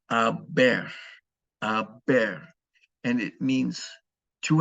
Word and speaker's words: haber: There will be an H in all the conjugations, but of course the H is silent in Spanish. So please learn how to conjugate the verb haber, okay, in the present tense.